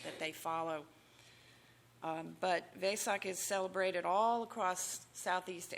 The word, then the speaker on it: Vesak: So, we're here to celebrate this Buddhist holiday, as Terry mentioned, called Vesak. Um, ves a k. And it's also sometimes pronounced way with a w sound at the beginning.